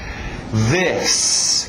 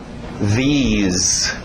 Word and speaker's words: this: This, aquele TH de zorba, this, ok? Cuidado com o this. A tendência de dizer esse I são de I, e você vai acabar dizendo these.